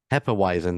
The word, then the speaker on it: Hefeweizen: is it how do you say that otherwise Hefeweizen that's right which I I've learned from Brother